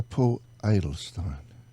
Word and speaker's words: Paul Adelstein: I'm looking at this man who act to pull idle Stein well pronounced I'm so impressed truly you see what